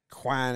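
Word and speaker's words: Canon: better than bird oh it's pronounced Quan in like Japan and other places which is after the goddess we just [ __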